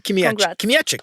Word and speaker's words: Kmiecik: But you have pronounced my surname very well. Yeah, I learned last time. Kim Katic. See, the thing is with Polish there's no there's barely any vowels.